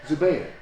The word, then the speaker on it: Zubair: I've never quite understood silent letters, but I hope I say this right. Zubair.